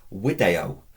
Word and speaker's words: video: useful very common is wio or wi in the infinitive remember the the V is pronounced as a w you can say V if you want it doesn't matter does it to us